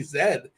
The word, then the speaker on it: Z: cannot be true that you guys pronounce z Zed and it turns out you know this already but maybe the people in the audience don't know that Z is Zed uh which yeah it's